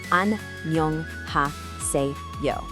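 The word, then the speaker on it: 안녕하세요: Let's break down that pronunciation nice and slow, syllable by syllable. Listen closely to this. An-nyeong-ha-se-yo.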